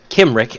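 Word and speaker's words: Cymry: your C and K's the C Sound used in foreign words in this game in almost every instance is pronounced as a hard c a k sound this is especially important for these words kimri is pronounced kimri and Celtic is pronounced Celtic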